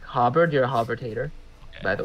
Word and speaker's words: Hobart: Harvard 5K Harbor yeah if you don't pronounce Hobart as like Hubbard you're a hovertator by